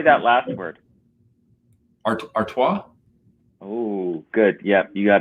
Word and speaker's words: Artois: stella how do you say that last word artois oh good yeah you got it right i